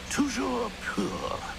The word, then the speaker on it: Toujours pur: Toujours pour. Toujours pur.